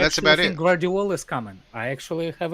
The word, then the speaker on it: Guardiola: Guardiola or Guardiola? The name's Guardiola. The G is silent. It's Guardiola.